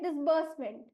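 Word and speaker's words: disbursement: And hence, क्यों ऐसे पढ़ते हैं, क्योंकि SE का उच्चारण से नहीं होता है, इसे समाप्त होने वाला शब्द है, इसीलिए डिसबर्स पढ़ेंगे हम इसको, और उच्चारण होगा डिसबर्समेंट।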